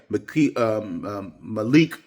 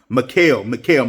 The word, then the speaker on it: Mikal: Yeah, Malik, if I pronounce, I'm just going to say Bridges because I hate to pronounce people's name wrong. Mikal, my bad.